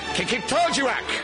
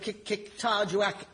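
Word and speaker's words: Qikiqtarjuaq: This week, Kikik-Tarjuak.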